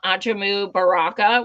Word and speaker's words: Ajamu Baraka: And the second announcement is I just heard from Ajamu Baraka, which is actually the correct way to say it.